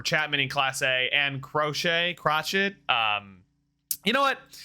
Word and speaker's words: Crochet: and the closers to crochet or crotchets it is it is it is crochet i just looked it